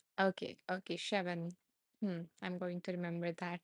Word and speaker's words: Siobhan: Siobhan says it's pronounced Shevan. Okay, Shevan.